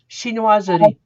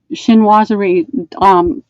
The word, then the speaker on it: chinoiserie: Chinoiserie. Chinoiserie, kind of design.